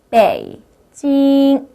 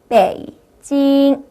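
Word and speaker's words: 北京: 한번 따라해 보도록 할까요 배이 발음이고 고 찡 발음이에요 빼이 찡 빼이 찡이 아니고요 내려가 주는은 반 삼성만 하시면 돼요 베이징 자 옆에 발음은 어 메이라는 발음이고 어라는 발음이에요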